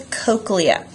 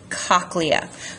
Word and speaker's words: cochlea: That's the cochlea. Can also be pronounced cochlea.